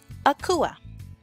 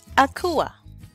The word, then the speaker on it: Akua: were born on Wednesday your name would be Akua Akua Akua all right so Wednesday borne males quake coupe quake coupe quake coupe Wednesday borne girls Akua Akua Akua enjoy your name now the next